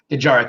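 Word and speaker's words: Dejarik: Is that how you pronounce it? Dejaric, yes. That's why I didn't want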